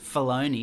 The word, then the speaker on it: Filoni: That the special features are quite extensive and fun, and there was a thing that Dave Filoni, is that how you say his name? Yeah, Dave Filoni.